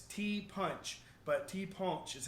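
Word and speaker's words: ti' punch: So there is the national drink of Martinique is called the tea punch, and it's tea punch, but tea punch is how they say it, tea punch.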